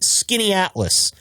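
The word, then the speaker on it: Skaneateles: is a mouthful and it is not pronounced anything like the way that it is spelled. Uh how it's spelled is how I just butchered it, this is actually skinny atlas, skinny Atlas, New York.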